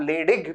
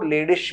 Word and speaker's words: Leydig: इसको आप लेडिग भी कह सकते हो, लेडिश भी कह सकते हो, प्रोनाउंसिएशन आपकी मर्जी पर है।